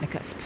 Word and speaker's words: Nakusp: That's how you pronounce it, Nakusp.